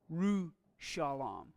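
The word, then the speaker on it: ירושלים: But in the case of Yerushalayim, that's a spiritized shavah. It receives that short E pronunciation, Yerushalayim.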